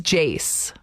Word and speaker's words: Jace: oh yeah okay so the answer is jace no it's not yeah it is because it rhymes with mace which is a spice